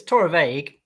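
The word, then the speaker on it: Torabhaig: to ask I mean so it's Torah vague with the BH being a v a bit like Bona Harvin right yes maybe we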